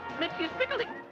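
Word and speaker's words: Mxyzptlk: is going to be judged on how they pronounce this name. My name is Mitzi Spiggly.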